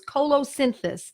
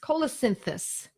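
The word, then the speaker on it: colocynthis: these medicines are pronounced so it's Colo synthesis and the way it's spelled see o l o cy n th is Cola synthesis it is an excellent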